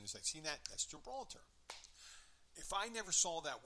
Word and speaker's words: Gibraltar: And she goes, Gilbraltar, which is Gibraltar.